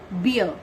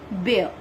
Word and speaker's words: bear: Now the fourth word is bear. Fourth word is bear. The students mispronounce this word is like beer. That is wrong. You should pronounce it like bear.